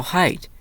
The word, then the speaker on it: height: Actually, Nate, you moron, the G is silent in this word.